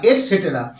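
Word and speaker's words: et cetera: যেটা আমরা ইংরেজিতে পেয়ে থাকি ইটিসি ফুলস্টপ অর্থাৎ এট সেটেরা এটা উচ্চারণটা হয়ে থাকে এট সেটরা অনেকেই বলে থাকে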